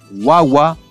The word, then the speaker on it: wawa: They are accented on the penultimate syllable. For example, nina, which is fire, wawa, baby, and yaku, which is water.